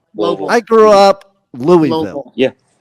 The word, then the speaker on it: Louisville: Which is near Louisville.